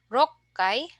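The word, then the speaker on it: 六回: Our special pronunciation here is in the 1, 6, 8, and then 10. So ikkai, rokkai, hakkai, and jukkai.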